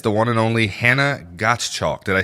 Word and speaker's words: Gottschalk: one and only Hannah Gottschalk. Did I say that right? You did. I saw in the description it said Gottschalk like got milk.